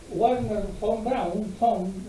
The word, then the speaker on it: Wernher von Braun: La idea de este señor Wernher von Braun, la D se pronuncia como F y la W se pronuncia como B.